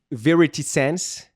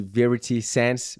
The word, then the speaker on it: Verity Sense: Inclusive a faixa da Polar, Verity Sense, pronúncia certa. Eu sempre fico assim, Verity, Verity Sense.